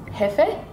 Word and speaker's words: jefe: The word is pronounced different in Spanish. Mahigpit ang hepe. Mahigpit pa hepe? Is the key word boss? Hefe? Yeah, yeah, yeah.